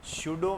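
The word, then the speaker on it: pseudo: ए ठीक है ना सुडो में जो यह प है य साइलेंट है ठीक है बुल बार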